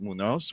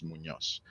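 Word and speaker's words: Muñoz: It's fine if you pronounce it Munos or whatever other way. And it's really not not a problem for me. But the proper pronunciation of my last name is Munos.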